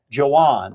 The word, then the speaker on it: Johan: And then it's Johan.